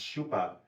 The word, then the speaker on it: Schoeppe: in their pronunciations so I'm using the Austrian pronunciation that she told me um she said it